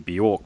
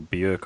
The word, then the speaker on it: Björk: And the cliche here is going to be Björk, because I think, or Björk, I think that's how you pronounce it, her name, isn't it?